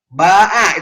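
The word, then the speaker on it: باع: Ba'a itu baya'a. Pak Syakir paham itu tafsirnya. Ba, ya, ain. Dibacanya ba'a.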